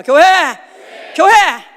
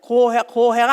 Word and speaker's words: 교회: 교회. 발음을 똑똑히 잘해야 돼. 고해가 아니다. 고해. 망망대해. 고해가 아니다 이거야. 교회.